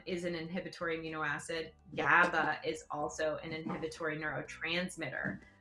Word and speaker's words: GABA: they do okay so i just pronounce it gaba to be honest with you because gamma amniobutyric acid